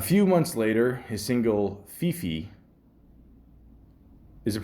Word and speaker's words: Fefe: A few months later, his single Fifi, is it pronounced that? Fifi, Fefe, F-E-F-E, okay, featuring fellow rapper Nicki Minaj and